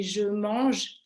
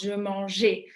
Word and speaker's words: mange: So I'm sure you all don't know French, but if, for example, I say je mange, I eat, learners would have the tendency to pronounce je mangeais.